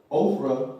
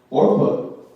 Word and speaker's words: Orpah: She could have just stepped to Ophrah, or I pronounced his name wrong. Orpah, right? She could have just stepped to him.